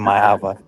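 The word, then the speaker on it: Maiava: I heard the announcer pronounce Jaden Mayava, so I'm gonna have to switch it back to Jaden Mayava.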